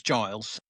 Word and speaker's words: Giles: So first of all, my name's Giles. Not Schofield. Schofield is not part of my name. Americans actually often mispronounce it to Schofield, but it is in